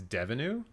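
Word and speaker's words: Deneuve: wait canada devenu agency it's devenu like revenue it rhymes with revenue okay yeah that's easy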